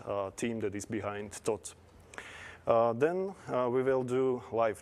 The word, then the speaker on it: Thoth: can talk about them so the pronunciation and please check or slovak is tot and we will talk